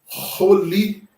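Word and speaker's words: חולי: E aí o som desta palavra nós iremos ler Roli. Então, o Het, ele puxa o RR lá na garganta. Roli.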